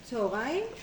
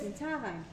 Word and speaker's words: צהריים: But I mean, does anybody actually pronounce it that way? Tzorayim? Of course. Who says tzarayim?